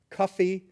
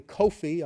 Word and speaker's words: Kofi: boys born on Monday Cuffy which is really Kofi are just recently retired secretary-general UN Kofi are men from Ghana Kofi is anglicized into or phonetically it's cuff or coffee we have thousands of